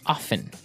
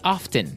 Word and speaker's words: often: Now, with pronunciation, some people like to pronounce often, right? They kind of leave out the strong T sound. Well, other people say often.